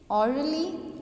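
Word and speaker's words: orderly: जैसे कि ली और the stress is placed on the first syllable. तो आपका जो स्ट्रेस है वो फर्स्ट सिलेबल पे आएगा। देखिए ऑर्डरली, ऑर्डरली, ऑर्डरली, silently, lovingly, first syllable को हम लाउडली प्रोनाउंस कर रहे हैं।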